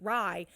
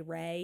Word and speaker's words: Rye: Rye's putting Rye. The way her name is spelled, I keep wanting to say Ray. I know. I want to say Ray, but it's Rye.